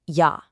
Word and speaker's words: יה: On one side, you have the two-letter Hebrew name for God, IA, pronounced Yah, and it's read right to left.